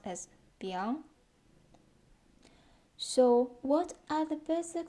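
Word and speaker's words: biáng: that's crazy and actually this character didn't exist it is newly created which means a type of noodle and pronounced as bian so what are the basic structs and how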